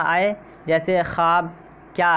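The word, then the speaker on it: خواب: ठीक है, लिखने में तो आते हैं लेकिन पढ़ने में इनको हज़फ कर दिया जाता है, ख्वाब बोला जाता है, यानी इनका प्रोनाउंसिएशन जो होता है आपका ये ख्वाब होता है डायरेक्ट।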